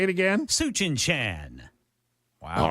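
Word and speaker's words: Tsuchinshan: Suchin-chan. Wow. All right. I'll go with that pronunciation.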